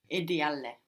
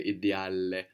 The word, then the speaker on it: ideale: Non è ideale. Good, but careful not to pronounce two L's on the end there, ideale. No, we want to say ideale.